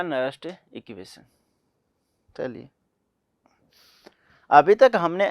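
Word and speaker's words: Nernst: तो ऐसे ही कोई इसको नस्ट इक्वेशन बोलते हैं, कोई इसको नर्नेस्ट इक्वेशन बोलता है। शॉर्ट फॉर्म में लिखो भाई, ठीक है। नर्नेस्ट इक्वेशन या नस्ट इक्वेशन।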